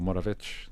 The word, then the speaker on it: Moravec: Isto é o paradoxo, chama-se o paradoxo de Moravec e o Moravetes, conforme usemos a a pronúncia certa, cheque, acho que ele era checo, hum, levou à à